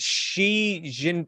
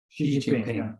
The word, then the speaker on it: Xi Jinping: Is it Xi Jin? Is that how you say it? Xi Jinping.